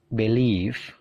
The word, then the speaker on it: believe: Jadi perhatikan stressingnya. Stressingnya punyanya come, punyanya gain, punyanya leave. Jadi stressingnya itu di suara yang kedua. Avoid, become, begin, believe, blame.